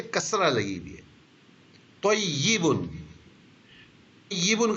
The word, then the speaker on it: طیب: अब कलमा तय्यबा पढ़ते हैं हम, वो भी गलत है, कलमा तय्यिबा। इसी तरह से हम मर्दों का नाम पुकारते हैं तैयब साहब, वो तैयब गलत है, तय्यिब।